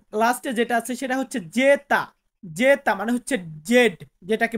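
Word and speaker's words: zeta: ইফসিলন ইফসিলন এন্ড লাস্টে যেটা আছে সেটা হচ্ছে জেতা জেতা মানে হচ্ছে জেড যেটাকে বলে থাকি সো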